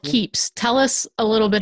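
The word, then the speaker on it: Keap: system that you use for that it's called keeps tell us a little bit about this system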